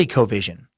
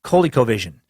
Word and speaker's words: ColecoVision: you're trying to say I sound I said Cole colecovision I do remember this from my childhood I had a friend who had one and yeah and they're pronounced coley-cole vision and Tom sent me